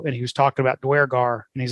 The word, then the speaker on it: duergar: he was talking about duergar and he's like yeah and i learned i learned it's pronounced where guard not durgar from jackson crawford you